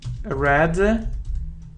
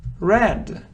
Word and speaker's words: read: swam swam his secretary read his correspondence read red red he secretary read his correspondence but reads in